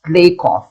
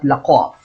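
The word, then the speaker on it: Lakoff: echo c robin lakov it's pronounced lake off not lakov i checked already and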